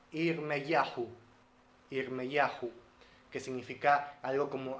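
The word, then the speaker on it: ירמיהו: En hebreo se pronuncia Irmeyahu, Irmeyahu, que significa algo como Adonai se levanta.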